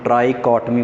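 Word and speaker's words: trichotomy: ये इसकी प्रोनाउंसिएशन याद रखनी है, टफ है, इसको हम ट्राइकॉटमी प्रॉपर्टी बोलते हैं।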